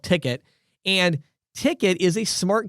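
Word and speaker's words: Tickt: It's spelled T-I-C-K-T. So it's a shortened version. It's called Ticket.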